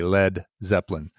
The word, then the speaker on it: Led Zeppelin: And then they actually spelled it LED so that it wouldn't be pronounced lead, because LEAD could be. That's smart. Yeah. So you definitely had to say Led Zeppelin.